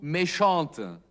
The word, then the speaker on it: méchante: Méchant wird zu méchante. Ein E wird angefügt und dadurch wird auch das T ausgesprochen. Elle a été méchante, aber il a été méchant.